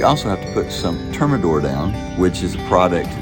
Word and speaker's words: Termidor: nicer and we also have to put some thermador down which is a product oh we also have to put some termidor down which is a product that keeps termites